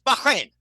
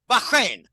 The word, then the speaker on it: Bahrain: And you know, we don't pronounce it right. It's Bahrain. Bahin. Okay.